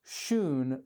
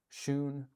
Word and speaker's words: Shun: And it wasn't until recently that someone said, actually, it's Shun like moon.